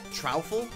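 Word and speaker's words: Troupple: of the trle king half trout and half Apple pronounced like mouthful so trul trle King he's one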